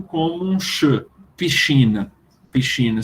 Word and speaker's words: piscina: Piscina se escreve PSCI, como a gente escreve em português, né? Piscina. Só que eles pronunciam diferente, piscina. Porque o som do SC com I ou com E vai ser sempre sh.